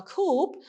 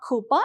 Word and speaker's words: coupe: It is actually not coupa, it is coupe. The pronunciation is different. Okay, so it's a French word. It is used in English, this one, the poem. Okay, so that is why you have to mind the pronunciation.